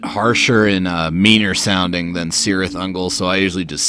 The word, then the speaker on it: Cirith Ungol: week it's cirith ungol or more properly it's pronounced Tirith angle yeah I guess it is a little bit nerdy to be getting pedantic about how to pronounce fictional words the band themselves actually say it's cirith ungol and one of their